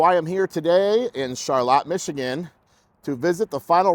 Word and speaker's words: Charlotte: Now, I wasn't sure if it was Charlotte or Charlotte because it looks like Charlotte and it's spelled like Charlotte, but a local at the gas station told me that it is indeed Charlotte.